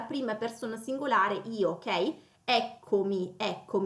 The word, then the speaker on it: eccomi: Eccomi, quindi l'accento poi cade sulla e, ok?